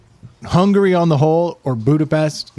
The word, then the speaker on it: Budapest: the podcast yes so the proper way is budapes yeah and then there's Budapest which is how we Americans yeah because apparently there